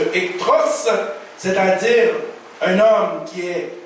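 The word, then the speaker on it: ἐχθρός: Le mot utilisé, le mot grec qui se prononce ektros, c'est-à-dire un homme qui est haïssable, quelqu'un qui est odieux.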